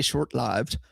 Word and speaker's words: short-lived: This was a short-lived, or as my old friend Dave Scheidt would say, short-lived, which is apparently the actual correct pronunciation of that word.